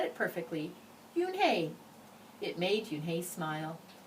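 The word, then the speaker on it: Unhei: Kim and then turned to Joey yes it's pronounced you and hae and it means grace said mr. kim yu-na joey said slowly this time he said it perfectly you and hae it made you hey smile I'll have it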